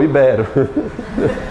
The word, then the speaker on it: ibero: Íbero. Íbero não, ibero.